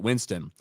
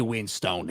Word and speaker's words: Winstone: And Rob says, Ryan, the E is silent. Winston. I have heard the man himself pronounce it. He says, "Hey, it's Ray Winstone here."